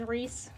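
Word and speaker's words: Ries: I looked it up, like how you would pronounce that, and everything says Reese, so I think there's debate for some people whether they want to call it Rice or not, but Rice sounds so bad, I don't like it.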